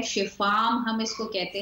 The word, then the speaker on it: Shifaam: तो इसे हम शिफा आम भी कह सकते हैं और शिफम भी कह सकते हैं। शिफा आम, हाँ, ये होगा शिफाम एक्चुअली, पता भी कर लेते हैं जी।